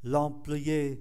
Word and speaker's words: employé: L'employé là người nhân viên. Các anh chị để ý chữ M mà đứng trước P thì đọc là N, l'employé.